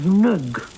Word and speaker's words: Ng: by the name of Nug. N-G, that's their name, Nug.